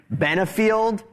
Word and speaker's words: Benfield: It's Benfield, not the regular host and namesake of this program.